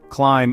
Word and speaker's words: climb: And climb ends with a silent B.